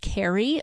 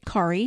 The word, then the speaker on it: Kari: Generally speaking, when you see that name, it's pronounced Kari most of the time, but I grew up in a Norwegian family, and my sister's name is actually spelled that way, and we pronounce it Kari, so it could be either way.